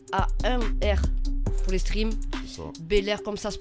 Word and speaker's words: Bel-Air: Bel-Air comme ça se prononce A-I-R à la ça.